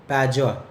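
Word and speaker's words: Padua: University of पैजुआ, पैजुआ educated वाला जो जा होता है एजुकेशन में, जो डी का प्रोनाउंसिएशन होता है, वही यहाँ पर भी होगा, पैजुआ और बोलोनिया, ठीक।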